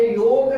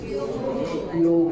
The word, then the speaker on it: योग: आपने योग के बारे में सुना होगा। योग नहीं, यू से योगा, इट्स नॉट योगा, योग ग पूरा है, योग नहीं, योगा भी नहीं, योग।